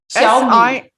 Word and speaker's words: Xiaomi: It's okay, I'll spell that for you. XIAOMI. Xiaomi.